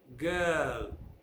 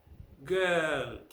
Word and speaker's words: girl: girl this is evil that is very often mispronounced people pass their lips or make the sound right in the back of the mouth because there is a vowel in their own mother tongue which they confuse with the english sound always listen okay um